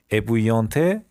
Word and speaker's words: ébouillanté: این الاش تلفظ نمیشه. ébouillanté یعنی سوزوندن با آب جوش و اینا.